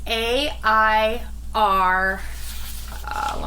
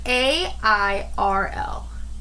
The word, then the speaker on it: Airel: the name air L um how do you spell that it's a i r let me check my notes here because I forgot yeah yeah I was right so it's a i r l o not e-l-l or just no but it's